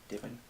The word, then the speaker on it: Dippen: dippin how are you sir good thank you do I say your last name correctly divin mm-hmm okay skinny dipping dipping does okay I